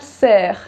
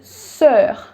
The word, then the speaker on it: sœur: It gives you the sound which is neither O nor E. It's somewhere in between. It's not soeur, it's not sœur, it's sœur.